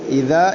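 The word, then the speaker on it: إِذَا: ഇവിടെ ആയത്തുകളിൽ ഇദാ എന്ന് ഉണ്ട്. അവിടെയൊക്കെ ഇദ എന്നോ അല്ലെങ്കിൽ ഇസ എന്നോ അതും പ്രത്യേകിച്ചും ശ്രദ്ധിക്കേണ്ടതാണ്.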